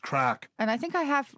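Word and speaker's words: craic: sleeve but it's the obvious one it's crack crack and that means what does that mean a good spirit a good feeling great amusement and how do you spell entertainment is c-o-a-i-c crack it's pronounced crack and i think i have already said in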